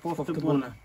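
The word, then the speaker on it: poftă bună: Yeah, poftebuna.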